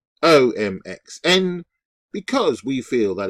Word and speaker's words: womxn: I've heard some pronounce it again, womxn. Really? Minx, as in minx, but womxn.